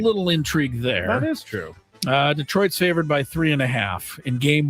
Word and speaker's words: Detroit: Detroit? 29? Yes. Am I going first? Yes. Detroit is pronounced, that's the French way, Detroit.